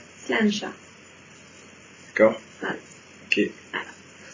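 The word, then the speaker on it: sláinte: Ça se prononce Slancha. Slancha. D'accord. Voilà. Ok. Voilà, tout simplement. Pourquoi? Eh bien parce que c'est comme ça. Le gaélique, ça ne se prononce pas comme ça s'écrit.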